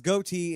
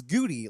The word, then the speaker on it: Goatee: First of all, I mispronounced his last name. And like it was Goatee, and it was how I said it was Goody, like Goody.